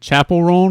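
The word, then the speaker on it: Chappell Roan: hot to go uh is it Chapel Ron is how you say her name oh yeah yeah yeah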